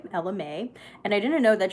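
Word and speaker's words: Ella Mai: artist was LMA and I didn't even know that's how you pronounce her name for the longest time I thought it was Ella my so I guess I learned something new that day Ella Mae and I didn't know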